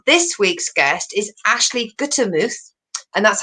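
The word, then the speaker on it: Gutermuth: Small Talk, and this week's guest is Ashley Guttermuth, and that's how you pronounce the name because it's only George. I know I messed it up when I was doing your quarantine comedy show. I've said Guttermouth, but it's not.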